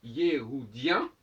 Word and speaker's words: Yéhoudien: Le H, parce que Yehudi, de toute façon, il y a un E, et quand le H ne peut se prononcer que s'il est précédé d'un E ou d'un E.